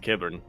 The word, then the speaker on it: Kyber: talk about the prequals thinking more of a kiber or kyber I guess uhhuh I pronounce it kiber because I'm normal okay one of these